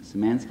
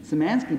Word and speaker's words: Szymanski: Szymanski is spelled S-Z-Y-M-A-N-S-K.